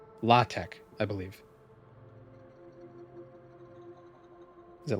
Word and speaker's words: LaTeX: Um it's spelled latex but it's pronounced latte I believe. Is it latte or latte? It's not pronounced the way it's spelled.